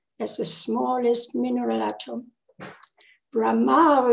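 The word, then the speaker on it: Brahmā: Brahma is the accent on the last A, on the other hand,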